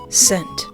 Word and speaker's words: scent: Scent. I do indeed see the word there, yes. Is the S or C silent? Huh? The C is. The C. The C is silent. I have no idea, and it's going to bother me forever.